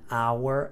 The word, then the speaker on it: hour: the train left an hour ago we're missing the article an here H is not pronounced again number five Spain is